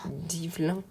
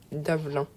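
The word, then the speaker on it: Dvalin: Ah, mais vous êtes celles qui ont fait peur à Divelin. Davelin. On va prononcer comme ça.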